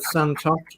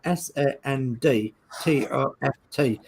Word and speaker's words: Sandtoft: Stuart Sullivan said Santoft. No, it's as I pronounced it. I pronounced it wrong, Stuart. I'm a silly Yorkshireman that pronounces things a bit funny. Ian Campbell says Sandtoft. Yeah, Sandtoft.